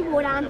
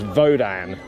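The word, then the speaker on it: Wodan: wrting bubba it's actually vodan but they pronounced their W's as V so yes so it's vodan right here we go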